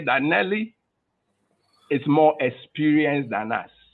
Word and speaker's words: Nelly: It rhymes with jelly. Yeah. But let's say that Nelly is more experienced than us.